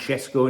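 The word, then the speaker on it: Šeško: keing on Benjamin shesco I think it's pronounced shesco in his own language but we'll probably call it cesco or whatever um it's it's an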